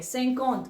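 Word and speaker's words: cinquante: को हम य प सत बोल रहे हैं सकत ओके सी आई क यू ए एन टी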